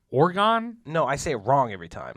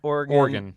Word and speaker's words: Oregon: Because when I say Oregon, I think organ, like at a church.